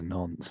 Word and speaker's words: nonce: One of these days I'll run into somebody whose handle is nonce, and that's gonna be a day. Nounce. Sorry, it's actually pronounced N once.